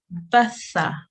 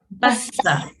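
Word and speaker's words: ث: tongue for the tha, the tip of the tongue slightly comes out of the mouth and softly touches the upper teeth, and air should escape when pronounced correctly.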